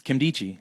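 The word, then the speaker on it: Nkemdiche: It's Kimdichie. Yeah. The N is silent.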